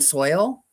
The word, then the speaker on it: sow: No planting in soil. You're just gonna leave it in your inside and let it grow. Sow is pronounced like so in case.